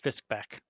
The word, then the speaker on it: Fiskbark: But I'm going to say it's pronounced Fiskback. It's a silent R.